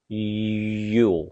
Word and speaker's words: jul: And also the word for Christmas, Yule, is also like Yule.